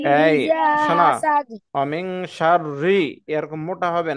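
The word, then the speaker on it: شَرِّ: ومن شر حاسد এই إذا শোনো, حسد অমিং শাররি এরকম মোটা হবে না, হ্যাঁ, অমিং শাররি, অমিং শাররি, রি, রি হবে না, রি হবে রি।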